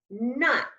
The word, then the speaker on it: knot: the word is not say it with me not as in I tied a knot in my